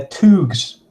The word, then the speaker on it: Thugs: Thugs. Actually, they're Toogs. Toogs. If you pronounce it right.